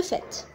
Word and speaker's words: fait: S'il vous plaît, il s'écrit fait avec T, mais il se prononce le fait.